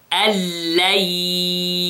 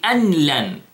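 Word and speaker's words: أن لن: Then, أَلَّنْ يَقَدِرَ. Again, أَلَّنْ يَقَدِرَ. Notice, I didn't say أَنْلَنْ. No. أَلَّنْ. But without seconds. Without 2 seconds. What we did, I just merged the noon in the lam.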